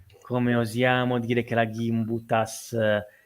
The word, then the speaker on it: Gimbutas: gimbutas io la chiamo gimbutas ma realtà a volte si chiama gimbutas gimbutas io la chiamo gimb per di norma nel mondo anglosassone pronuncia è quella poi la pronuncia litu Io non lo so è un'archeologa lituana